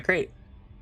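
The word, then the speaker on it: Krait: I wish I was in my crate. I would have beat him up. No, no, no. It's crate spelled with a K.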